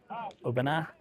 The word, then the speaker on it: Aubenas: Aubenas, if you don't pronounce the S.